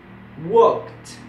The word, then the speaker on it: walked: Por ejemplo, estos tipos de verbos que terminan con K siempre van a sonar con T al final. En la pronunciación, worked, walked.